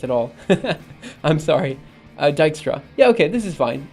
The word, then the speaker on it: Dijkstra: see that's something I don't know how it's pronounced at all I'm sorry Dijkstra yeah okay this is fine I'll try to